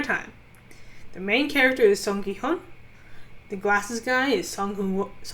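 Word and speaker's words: Seong Gi-hun: So again, it's the main character, the protagonist, is Song Ki-hyun.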